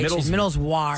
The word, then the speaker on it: Middleswarth: this the bag looks is spelled with an a not worth like w r t Middle's War so I understand what